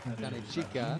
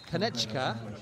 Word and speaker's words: Kanechika: Foul on Kanachika. Kanechika is probably the more accurate Japanese pronunciation of Chiba's number 12 as the LEVANGA bench emptying.